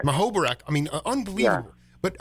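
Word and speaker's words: Muhoberac: Larry how do you pronounce his last name? Larry. Mahobarak. Mahobarak.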